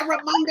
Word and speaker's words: Ramunda: He said Ramunda.